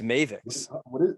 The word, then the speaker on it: Mavix: I figured, by the way, the PR person made me redo my video because I was pronouncing it wrong. It's Mavix. Yeah, and Mavix?